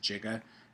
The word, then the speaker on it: giga: And some people pronounce it giga, especially if you watch Back to the Future and they're talking about how many gigawatts the flux capacitor has. But giga is the way it's typically referred to.